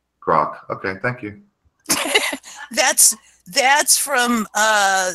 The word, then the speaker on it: grok: Aaron, that word is pronounced grok. Grok.